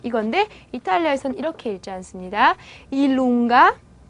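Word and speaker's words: i lunga: 일룽가, 예, kappa, W, X, Y 이렇게 읽게 되는데 예, J를 기본 즈 발음으로 생각을 하지 않고 반모음처럼 생각을 해요.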